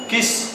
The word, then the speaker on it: quiche: थोड़ा सा वो है, अजीब है, किश, ठीक है, QUICHE, ठीक है, ये किश लोरेन, ठीक है, फ्रेंच का वो है वर्ड। तो वो अगर बेटा उसको